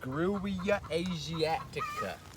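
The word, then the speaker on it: Grewia asiatica: to show this tree right here is called gruyea asiatica that's spelled g-r-e-w i a space a s i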